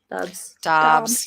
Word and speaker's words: Dobbs: Dobbs.